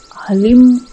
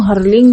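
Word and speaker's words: ह्लीं: फट् स्वाहा बोलते हैं लेकिन इसमें भी जो दोनों बीज मंत्र है वह अलीम है हर लिंग या अन्य कोई भी उच्चारण सही नहीं है हां यदि कि आपने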